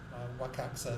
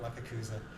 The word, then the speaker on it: Wakakusa: Wakaksa as the Japanese pronounce it. So, but I'm English. I'll call it Wakakusa, and it's basically a medium grade.